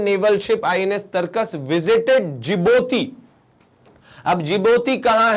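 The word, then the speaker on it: Djibouti: ध्यान रखेंगे D silent रहता है इसमें। ये जिबोती है।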